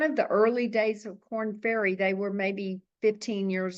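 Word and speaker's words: Korn Ferry: don't know if you're listeners are familiar with corn fery and it's spelled k o r n f e r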